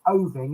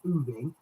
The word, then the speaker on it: Oving: I'll be doing Boxgrove, Tangmere, and I've been reliably informed that the other one that I called Oving is actually pronounced Ooving.